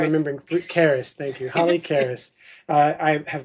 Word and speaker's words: Keris: Thank you, Holly Keris. I have mispronounced her last name before, and I'm trying to get it right. Holly Keris.